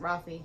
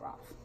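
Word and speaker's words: Raffe: And yes, I pronounce it Rafi, not Roth.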